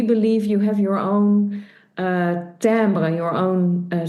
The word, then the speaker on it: Timbre: I like the timbre. That's also, by the way, the name of your company. So the sound colors. Phonetically spelled TAMBR.